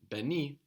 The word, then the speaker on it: beni: So whilst in the word ben, we have the syllable en, in beni, we don't have it anymore. The syllables are be and ni.